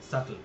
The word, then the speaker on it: subtle: His sense of humor is intellectual and subtle, and is সাটল, complicated by এই sub শব্দটা beta silent থাকে, সাটল। subtle and is complicated by an appalling temper.